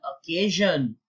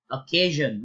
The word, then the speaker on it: occasion: All right, so the correct answer, the correct way to pronounce is number one, occasion. Just because it begins with O, don't be tempted to say occasion or any other way. It is purely occasion.